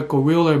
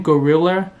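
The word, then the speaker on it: Guerrilla: And actually, the name Gorilla has nothing to do with gorilla, but it just they share the same pronunciation, so they just put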